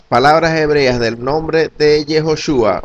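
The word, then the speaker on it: יהושע: En el caso de Yehoshua lleva el sonido de la letra O, dándonos la pronunciación como Yehoshua, palabra que el diccionario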